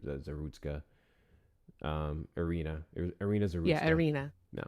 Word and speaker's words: Zarutska: Zarutska. Zarutska. I'm assuming it's Zarutska with the U. Zarutska.